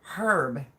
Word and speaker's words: herb: Actually, a lot of people say like herb, and it's not herb because the H is silent.